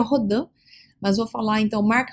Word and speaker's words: Rodin: que o matemático né Mark rodim ou rodan como queira pronunciar o certo seria rodan mas vou falar então